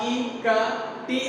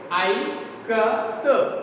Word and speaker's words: Ikat: it is spelled it as ka, as in Kamala. Okay, as in Kamala, and T as T. So here first word I, as it in ka, I, ka. T as what here?